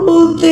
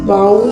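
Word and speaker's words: bowl: इसका अच्छा वाला प्रोनाउंसिएशन बाउल नहीं होता है, बोल होता है। ठीक, देखो हमारी भी गलती नहीं है। अगर OWL अगर आउल है तो सामने बी लगाने पे बाउल ही ना होगा, लेकिन इंग्लिश है, इंग्लिश की मर्जी है।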